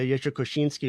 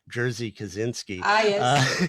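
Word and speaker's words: Jerzy Kosiński: the inspiration for uh yeshua koshinsky or as americans say jersey kaczynski uh his novel being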